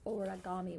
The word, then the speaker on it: origami: start first with the origami, which is a Japanese way of folding paper into different kinds of beautiful creations, from flowers and birds to animals. Origami, 4 syllables.